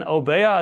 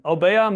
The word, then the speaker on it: Obeya: It's usually spelled with one O, but if you translate it literally, it's spelled with two, but many people don't pronounce the second O. That's why they lose it.